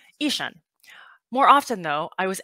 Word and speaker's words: Gi Swun: And Taiwanese, my name is pronounced Yi Shun with a hard G.